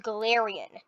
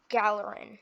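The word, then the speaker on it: Galarian: were gallery forms and they're apparently called glarion not gallerin like a little in gallerin it's galerion imagine someone pronounced a gallery and gallerian poke gallery and corsola the scalarian not gallerian it's glarion okay now it's just my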